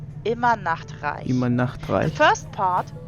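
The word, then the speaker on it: Immernachtreich: pictures round, she says she originates from, Immer nach Reich. is actually pronounced immer Nachtreich.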